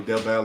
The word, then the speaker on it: Del Valle: So got a little correction on the way I said Del Valle. Yeah, now that you mentioned that, Jeremy, I have heard it as Del Valle. Del Valle is the correct pronunciation.